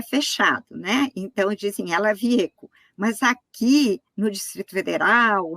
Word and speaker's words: Wiecko: Ela Vieco, eu estou pronunciando certo o seu nome? É Vieco? Certíssimo. Tá.